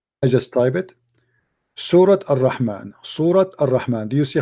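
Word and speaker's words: الرحمن: like with the Ar-Rahman, this is like with the alif, then you say it like long, you know. Right, Ar-Rahman.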